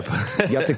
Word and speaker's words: Jacek: You're so right, Jack Posobiec. But yeah, Jacek Posobiec.